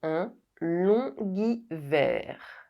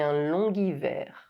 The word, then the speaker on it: long hiver: G is added when the liaison is made with the final silent consonant G. Long. C'est un longuivert. C'est un longuivert.